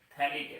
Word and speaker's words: phthalic: then it is called phthalic acid ph is silent okay phthalic acid and